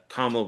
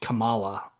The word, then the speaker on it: Kamala: So there were a couple of those types of I love that you say her name right because like everybody says that uh um Camala, you know, right?